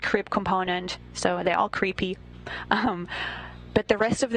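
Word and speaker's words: KREEP: weird component that we call creep and it's spelled k re e e p in sense of potassium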